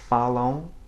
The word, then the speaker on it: falam: At the end of a syllable or at the end of a word, where you'll sometimes see it, it has the function of nasalizing the preceding vowel without really being pronounced itself.